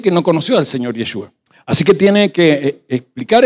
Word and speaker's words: Yeshua: y se latinizó así, pero su nombre correcto para pronunciar es como se escribe así, Yeshua.